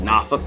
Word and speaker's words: Norfolk: People often mispronounce Boise. Boise. Norfolk, Virginia. Like Norfolk.